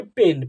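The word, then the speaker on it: pain: आई आ गया जब दो कॉन्सोनेंट के बीच मेरे प्यारे साथी ए आई आ जाता है तो इसी ए आई को ए प्रोनंसिएशन किया जाता है तो इसे पेन पेन यानी होता है दर्द ठीक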